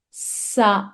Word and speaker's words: ça: So here there is C, which has a mark below, which is an accent and is known as SEDI. C SEDI. It always gives the sound of S.